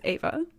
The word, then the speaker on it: Eva: I'm pretty sure it's Ava is it oh the The Very Yes I should have I should have WR I mean it's written with an e but it's pronounced with an a I mean I I